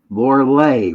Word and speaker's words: Lorilei: But tonight, since we only have an hour, I got my dear friend, Lorilei, right? Lorilei. Lorilei. Lorilei. It's spelled like Lorelei, but it's Lorilei.